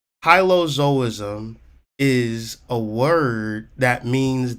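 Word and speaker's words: hylozoism: it anyway it's called Hilo zoism so how to spell that h y l o z o i s m high low zo-ism h y l o z o i s m hilozoism is a word that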